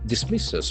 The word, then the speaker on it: dismiss: Iran dismisses. We get a very important verb. Dismiss. Dismiss. There are two syllables. Dismiss. And accent falls on the second syllable.